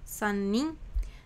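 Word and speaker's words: 三人: Jadi ini kan karena ada annya jadi kayak lebih ke dipanjangkan dan lebih ditekankan gitu ya minasang. Jadi bukan sanin tapi san nim gitu ya.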